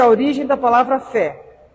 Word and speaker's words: fé: Hoje o nosso assunto aqui é sobre fé, que é uma palavra que é de uma sílaba só, né? Tem um acento agudo, é uma vogal aberta, fé.